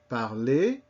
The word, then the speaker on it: parler: Also, we have that same sound, not spelled the same way, but that sound in an ER at the end of a word, as in parler, travailler. You are going to learn a whole host of verbs whose basic form, called the infinitive, ends in this ER and is pronounced E.